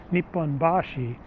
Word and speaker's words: Nipponbashi: the nihonbashi is that in osaka you say kansai you say nipponbashi where it's in tokyo it's nihombashi same same sounding and